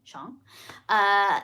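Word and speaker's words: Shyong: Times Jen Yamato and Frank Chong that's how you say his name his last name Shawn they came out with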